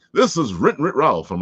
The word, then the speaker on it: WrittenwritRalf: take this opportunity to say thank you to WrittenwritRalf. Is that how you say it? Oh my gosh. WrittenwritRalf. Yes, WrittenwritRalf.